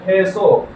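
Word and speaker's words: queso: ക്വേസോ എന്നല്ല കേസോ.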